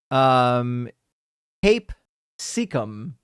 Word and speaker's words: capsicum: But apparently, I think it's supposed to be pronounced the way that it's written up here. I've got the wiki page pulled up with the pronunciation instructions, and it says Cape Secum.